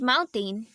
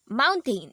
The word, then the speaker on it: mountain: When T is before an N, the sound is stopped and turns into a hard N.